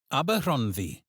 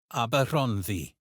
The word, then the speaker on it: Aberhonddu: Aberhonddu. Aberhonddu. Known in English as Brecon. Notice how the double D sounds like the th in this, and how the stress falls on hon. Try it again. Aberhonddu.